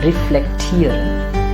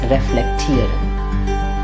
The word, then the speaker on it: reflektieren: It's not reflektieren, it's reflektieren.